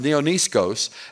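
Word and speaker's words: νεανίσκος: That word young men in the Greek is the Greek word neoniskos, N-E-A-N-I-S-K-O-S, for those of you that care. It's pronounced neoniskos.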